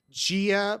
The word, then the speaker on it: Gia: Gia, pronounced with a G, like in the word goddess. So Gaia and Gia.